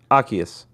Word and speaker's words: Arceus: and then I got fucking Okay, here's the pronunciation. Arceus. Arceus. I'm gonna call him Yeah. Asius from now on.